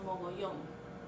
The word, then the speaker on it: mogollón: It rhymes with millón, which is million, and it's called mogollón.